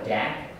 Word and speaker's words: DAC: Lo um so this is always called a Dack um as opposed to this other one which